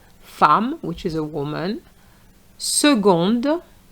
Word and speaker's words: seconde: which is a woman seconde So the C has a different sound here not seconde but seconde ail for ga- for